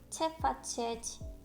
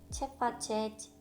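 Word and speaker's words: Ce faceți: 그래서 그 상대, 제가 말하고 있는 상대가 나보다 높은 사람일 경우 또는 잘 알지 못하는 사람일 경우에는 체파체지, 체파체지 라고 해주시면 됩니다. 있지 하실 때 이가 거의 묵음이에요.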